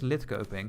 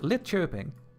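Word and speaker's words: Linköping: Where is lit coping? So, we have I mean chirping. Sorry, I said it wrong again. It's lit chirping.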